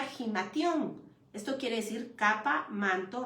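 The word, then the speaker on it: ἱμάτιον: Lo tenemos en el 2440 del Strong y se pronuncia gimation.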